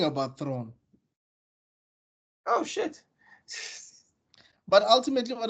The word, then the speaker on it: Thrawn: Thrawn. One syllable. Yes. 1 syllable, guys. I even forgot what I was saying about Thrawn.